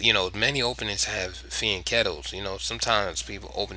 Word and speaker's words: fianchetto: the castle position this is your the afen feeling kettle setup right here both sides have done it some people say fianchetto what a dick is pronounced feeling kettle but that's neither here nor there now there's